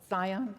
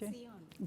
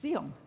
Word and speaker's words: Zion: Cultural Foundation, and the owner of Harlem's beloved Zion Cafe. Is that how it's pronounced, PJ? Zeon. Zeon.